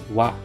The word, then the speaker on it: は: However, when it is used in the manner like it is now, it is pronounced as wa.